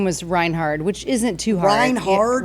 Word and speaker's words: Reinhardt: Herd. Reinhardt. Like hard.